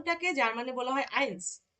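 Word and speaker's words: eins: বলি zero one টাকে যার মানে বলা হয় আইন্স বা এককে যার মানে বলা হয় আইন্স এই যে বানানটাও দিয়ে দিছি আইন্স টু টাকে যার মানে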